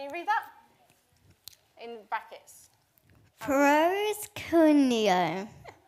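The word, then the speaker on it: προσκυνέω: So it's spelt out underneath. Can you read that? In brackets. Proskuneo.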